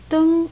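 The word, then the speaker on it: 灯: So this is traditional, this is simplified, it pronounced deng, and this is a light, lamp actually, more like lamp, yes.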